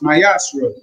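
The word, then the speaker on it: מעשר: You can find it in numbers 18 verse 21 and Malachi 3 verse 8-10 means tip in Hebrew is pronounced myashra 10% of every penny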